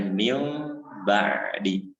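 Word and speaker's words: مِنْ بَعْدِ: Tulisannya min ba'di misalkan, tapi dibacanya mil ba'di.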